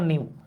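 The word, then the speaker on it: new: তবে আবার বলেন না সুমন ভাই তাহলে এটার উচ্চারণ কি নু? না ভাই, এটার উচ্চারণ নিউ, এটার আবার নু বলেন না।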